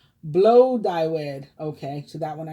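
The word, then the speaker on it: Blodeuwedd: first welsh earth goddess gladued pronounced blow dyewood okay so that one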